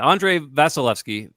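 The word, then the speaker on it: Andrei Vasilevskiy: His name I don't want to try to pronounce. Yeah, Andre Vasilevsky.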